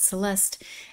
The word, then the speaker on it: Celeste: one quick thing about celeste's name so living in Portugal trying to learn Portuguese we do have a a neighbor whose name is Celeste but in Portuguese it's pronounced celest so I've gotten very